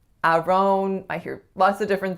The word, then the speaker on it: Aaron: The first vowel is the vowel air, though I guarantee you'll hear some variation of that specific vowel depending on which region you're living in. And the second syllable is schwa n, or a syllabic n.